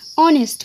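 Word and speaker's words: honest: এইচটা কিন্তু আমরা উচ্চারণের সময় এটার এইচটাকে আমরা বাদ দিয়ে দিই। এখানে তাকে হচ্ছে ও। ও এর উচ্চারণ কি? ও এর উচ্চারণ হচ্ছে একটা ভাওয়েল সাউন্ড, তাই এখানে এন বসেছে।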